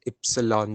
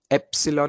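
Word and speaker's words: epsilon: ई से शुरू होता है, प्रोनाउंसिएशन भी ई से, इप्सिलॉन। एप्सिलॉन नहीं पढ़ते जनरली, इप्सिलॉन पढ़ते हैं, इप्सिलॉन, ओके?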